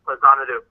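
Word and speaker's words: Faxanadu: Yes, that's pronounced Fazanadu.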